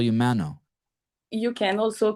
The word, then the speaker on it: Manon: saying your name right man on yeah yeah yeah this is my American name can I hear you say it Manu mano yes Mano so don't even pronounce the N at the end Mano no but I